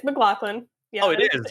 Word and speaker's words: McLaughlin: It's not pronounced McLaughlin, right? It's McLaughlin? It's McLaughlin.